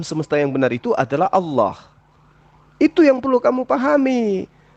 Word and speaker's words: Allah: Huruf A tambah L tambah L tambah L tambah A tambah H dibaca Allah.